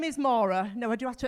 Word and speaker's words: Maura: people that that's pronounced Mora which you got right thanks D and um it's not Laura it's not Nora it's not Morag it's not Morin um and it's definitely